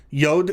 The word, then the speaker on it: yod: the letter yod yod yod is pronounced like the letter y in the english words yes and yellow and yesterday for which reason it